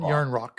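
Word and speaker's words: Järnkrok: that's yarn Rock yarn Rock j y and yarn rock It's pronounced yarn Rock anyways uh Matthews didn't practice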